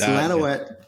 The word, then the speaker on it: Lanouette: Lanouette. Lanouette. It's Lanouette. If you're French, it's Lanouette. Lanouette is an American version.